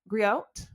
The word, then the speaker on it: griot: So so storyteller is a griat griot go I always forget the t is silent I forget.